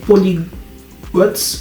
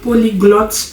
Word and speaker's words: polyglotte: Au lieu de dire polyglotte, j'ai dis polygot.